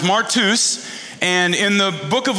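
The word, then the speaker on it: μάρτυς: mean this is a good one um it's pronounced martus and in the Book of Luke and acts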